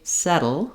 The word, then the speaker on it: settle: build up any pressure so when I say settle or subtle it's just a light little touch with my voice voice on and then my tongue comes back down so I don't want